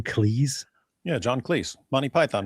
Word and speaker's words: Cleese: Cleese?